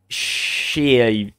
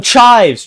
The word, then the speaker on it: chives: It's pronounced... Shives? Oh, chives! Chives!